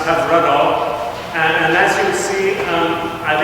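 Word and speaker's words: Hyfrydol: It's a Welsh tune, pronounced Have Rudol.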